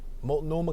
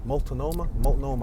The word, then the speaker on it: Multnomah: How do you say that word? Multnomah. What's that? An H? Multnomah County. I'm looking at this building. I'm trying to decipher this word. Multnomah, I guess.